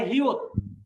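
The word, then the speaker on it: 히읗: তারপরে হিউত। হিউতের যদি সে প্রথমে বসে তাহলে তার উচ্চারণ হবে হ, কিন্তু খেয়াল করে দেন হিউতেরও যদি নিচে বসে তাহলে তার উচ্চারণ হবে কি?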